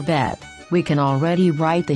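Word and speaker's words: ב: also within a word the letter bet is pronounced as bet when it has a dot inside this dot is called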